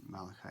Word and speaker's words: Malachi: It's a promise, a two-part promise in the book of Malachi, or Malachi as other people pronounce it.